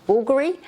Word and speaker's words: Bvlgari: So we went to Milan and I spoke to this lovely gentleman that helped me with this bag, and he said it's pronounced Bvlgari.